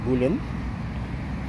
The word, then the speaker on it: bowline: Simple knot, our old school bowline, or some people call it as a bullion.